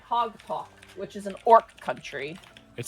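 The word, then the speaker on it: Haag-Tok: Hogalk, which is an Orc country.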